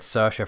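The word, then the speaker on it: Saoirse: time and then like sasha is one of them it's it's spelled s-a-o-i-r-s-e and somehow you're supposed to get sercia from that siobhan as well yes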